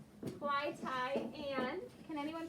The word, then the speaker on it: Clytie: clyde yeah i would i would pronounce this fly tie because i would say the y would say the i sound fly thai and can anyone pronounce